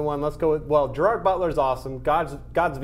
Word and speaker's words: Gerard Butler: Justice okay is it B Gerald Gerald Gerald Gerald Butler how do you say his name Gerard Butler Gerard Butler leonitis for gods of Egypt and London has